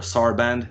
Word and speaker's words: Sarband: like so it's a French ensemble called Ensemble Sarban or Sarband, you would pronounce it.